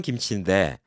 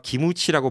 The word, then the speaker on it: 김치: 원어는 김치인데 다른 나라에서 기무치라고 발음한다고 그걸 맞는 거라고 다른 나라 가서 그거